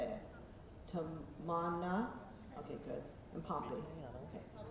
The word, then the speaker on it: Tamanna: Tamanna, okay, good.